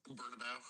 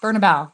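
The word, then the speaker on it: Bernabéu: No offense to how do you say it again? Burnabout. Bernabeu.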